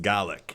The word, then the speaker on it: Gaelic: to a lot is Gaelic in Irish and of course it's spelled exactly the same in Scotland but it's pronounced Golic in Scotland recrendition of the local